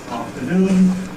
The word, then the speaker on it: afternoon: So the citation for this word afternoon has the stress syllables, the final syllable.